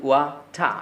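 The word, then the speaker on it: water: Accent অনুযায়ী ওই আর টি অর্থাৎ র সাউন্ডটি সাইলেন্ট হয়ে যায়। তাহলে আপনি আজকে থেকে পানির ইংরেজি বলবেন ওয়াটা, ওয়াটা।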